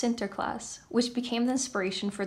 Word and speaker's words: Sinterklaas: In Dutch, Saint Nicholas is pronounced Sinterklaas, which became the inspiration for the name Santa Claus.